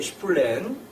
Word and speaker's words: Spleen: 그래서 이 시 제목이 슈플렌, 뭐 저는 독일어 발음을 했습니다. 근데 독일어 번역에서도 슈플렌으로 써 있고 또 보들레르가 또 특히 이 스펠링 SPLEEN을 그대로 썼습니다.